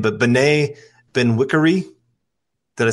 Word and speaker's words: Bené Benwikere: just don't want to say his name, but Bené Benwikere. Did I say that right? That was good, man. Okay, I'll take it. Okay, Bené Benwikere.